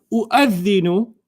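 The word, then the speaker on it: أؤذن: So if this hamza was written by itself, you'd read it the same way. Okay. Okay? So the waw doesn't even count anymore in your pronunciation.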